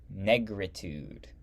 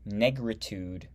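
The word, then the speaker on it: Négritude: The word is spelled N-E with a accent, G-R-I with an accent, T-U-D-E. Negritude.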